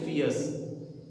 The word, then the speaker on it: fierce: आर, मैंने आपको last video में बताया था जब आर के बाद में बहुत सारे ऐसे कॉन्सोनेंट है जिनके बाद में जब वावल नहीं आता है तो वो साइलेंट रहते हैं, उसमें आर भी एक है। आर के बाद में यदि अपने को कॉन्सोनेंट नहीं मिल रहा है तो लगभग उसका जो प्रोनाउंसिएशन है वो साइलेंट रहता है, आर साइलेंट रहता है, इसलिए अपन इसको बोलेंगे फियर्स, FIERC, फियर्स।